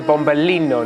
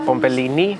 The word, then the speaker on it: bombino: corrected on my pronunciation it's a bombino not bombini cuz that means tiny small balls but you like the